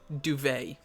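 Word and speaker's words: Douveigh: her name again estelle duvet like the bed it pronounced that way it's uh d-o-u-v-e-i-g-h uh thank you so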